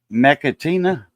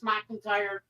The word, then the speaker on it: McIntyre: Oh, sorry, I see Mechatina. Oh, McIntyre. Mechatina. Yeah, that's McIntyre. That's I see it says Mechatina. INA. it's pronounced as McIntyre.